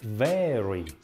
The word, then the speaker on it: vary: Это не very, в смысле очень, это very, very. Произношение непростое, там двойной.